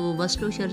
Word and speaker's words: Worcestershire: और ये इसके जो वर्डिंग कुछ अलग है और प्रोनाउंसिएशन थोड़ा सा डिफरेंट और थोड़ा सा मुश्किल है। तो वर्स्टरशायर सॉस इसे कहते हैं, वर्स्टरशायर सॉस, और ये 1 टेबल स्पून डालनी है।